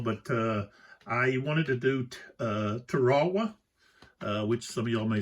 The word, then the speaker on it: Tarawa: But I wanted to do Tarawa, which some of y'all may say, what is he talking about?